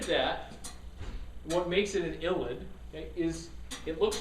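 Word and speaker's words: ylide: Okay, so that funky looking name, you pronounce that ylid.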